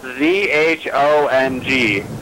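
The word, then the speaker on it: 中: The J sound is a ZH, so it's spelled ZHONG, and that means Zhonghua. Zhonghua. Well, I mean the ZHONG GOU, so Zhonghua. But Zhong is ZHONG, which sounds like JONG, but that's different in China.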